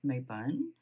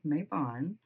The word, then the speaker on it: Mabon: So Mabon can be pronounced Mabun or Mabon or Mabon, depending on where you're from.